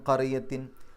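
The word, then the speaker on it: قَرْيَةٍ: മണിക്കണം അപ്പോൊ മി കറിയത്തിൻ കറിയത്തിൻ എന്നുള്ളതിന്റെ അവസാനത്തിൽ തൻവീന് ശേഷം അനാണ് അനിന്റെ മുമ്പ് തൻവീൻ വന്നാൽ അവിടെ ഇളഹാറാണ് നിയമം അവിടെ നൂനിന്റെ ശബ്ദം വെളിവാക്കണം കറിയത്തിൻ ആ തൻവീനിന്റെ ഉള്ളിൽ ഒരു നൂനിന്റെ ശബ്ദം ഉണ്ടല്ലോ അതിനെ പുറത്തേക്ക് കേൾക്കുന്ന രൂപത്തിൽ പറയണം അതാണ് ഇളഹാർ കറിയത്തിൻ കറിയത്തിൻ എന്നുള് ശബ്ദം പുറത്തേക്ക് കേൾക്കണം അൻ അംി അവിടെ അൻ എന്നുള്ളതിനുശേഷം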